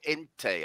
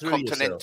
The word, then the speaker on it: Continente: We're always tempted to go ente, aren't we? And you don't ever pronounce the e like that. It's you like continente.